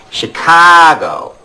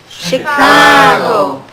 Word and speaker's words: Chicago: When you make the ah sound, sort of hold your nose to flatten the vowel, like Chicago. Chicago.